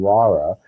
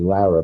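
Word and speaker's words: Lara: always have to remember to pronounce her name Laura my Brooklyn accent gives me Lera but it's really that and she was an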